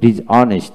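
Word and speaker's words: dishonest: তারপর ডিজ অনেস্ট, ডিজ অনেস্ট, exhibition, exhibition, exhibit, exhibit, exhaust, exhaust.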